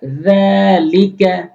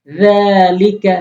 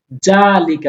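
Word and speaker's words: ذَٰلِكَ: যালিকা, যালিকা। জালের উচ্চারণ জিহ্বার আগার সামনে ২ টি দাঁতের আগাতে লাগাবেন। জালিকা বলা যাবে না।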